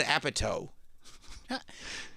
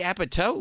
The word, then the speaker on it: Apatow: They said Judd Apatow. Can you imagine having your name mispronounced by the guys doing play-by-play of the Golden Globes?